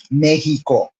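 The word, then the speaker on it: México: If he goes to Mexico, not Mexico, Mexico. In case you people, non-Latinos who are watching right now, that's how we pronounce it as Latinos, Mexico. Just in case anybody wants to pronounce that correctly.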